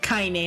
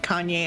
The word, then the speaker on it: Kaine: Her name's Kaine, not Kanye.